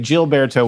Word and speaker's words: Gilberto: to pronounce it right jilberto is it jilberto or Gilberto jilberto so is it GS or jets it's definitely gets St get so gets with a G but jilberto with a G it's